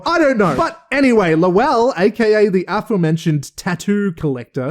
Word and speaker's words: Lowell: But whenever the characters seem to pronounce it in the show, they just say like lol, like laugh out loud, lol.